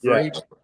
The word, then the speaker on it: Vrabel: If I'm not mistaken, the year before Vrabel, I think you pronounce his name Vrabel, right? Vrabel, yep.